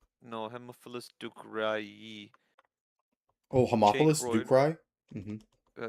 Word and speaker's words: Haemophilus ducreyi: No, Haemophilus ducreyi. Oh, Haemophilus ducreyi? Mhm. Yeah, yeah. Haemophilus ducreyi. On also literally have the the the thing right there. You do cry with Haemophilus ducreyi.